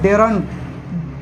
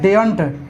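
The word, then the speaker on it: daren't: डेयर नॉट का होता है डेरंट, डेयर नॉट का देखिए डेयर नहीं बोलना है वहाँ पे, आर साइलेंट रहेगा, इसका होता है डेयंट।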